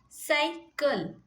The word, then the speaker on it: cycle: Now cycle. Cycle. C. After C you have Y. So it will be say. Say, sir, no? So whenever you get I-E-Y, you have to pronounce it as sir. That's why cycle.